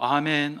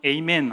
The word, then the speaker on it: 아멘: 하나님 말씀에 대해서 내가 공감할 때 아멘 하시는 거죠. 전적으로 동감할 때 아멘, 아멘 외쳤습니다. 그래서 우리 말이 훨씬 히브리어에 가까워요. 히브리어는 아멘이거든요. 영어는 에이멘 하잖아요. 우리가 훨씬 낫습니다. 우리 표현이 아멘이 더 정확한 발음이에요.